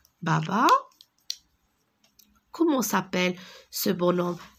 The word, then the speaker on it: bonhomme: Un bonhomme. Regardez, le H, je ne le prononce pas. Bonhomme.